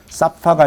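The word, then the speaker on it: שפה: 네, 이게 이제 쉰이고 신으로 된 S 발음으로 된 거는 사파가 랭귀지 언어 이런 거예요.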